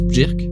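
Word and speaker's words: Björk: Apparemment, ça se prononce plus Berk, mais bon, je vais continuer à dire Bjork parce que ça a l'air plus connu.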